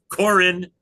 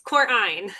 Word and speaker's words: Korein: Stephanie uh very kindly told me how to pronounce the name of her firm which everybody gets wrong which is Corin Tiller. So close. Corine.